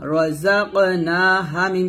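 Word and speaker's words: رزقناهم: র জবর র, জা কফ জবর জা ক, র জবর র, জা কফ জবর জা ক, রাযাক। নুন খাসবন না, রাযাক না। হা মিম পেশ হুম, রাযাকনাহুম।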